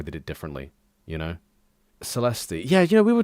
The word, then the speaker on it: Caelesti: It's a C. It's not a S. It's a C. I'm still pronouncing it wrong. Um, it's it's it is actually Kylesi.